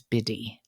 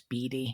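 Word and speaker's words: Bidi: to apologize to BD who I said her name was biddy and it's spelled b-i-d-i but it's German and it's Beady Beauty okay yes I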